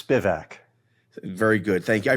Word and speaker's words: Spivak: to be here it for what little difference it makes it's spivac very good thank you